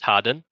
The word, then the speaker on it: Hardon: Yeah, my character is Harry Harden, spelt Hardon, pronounced Harden.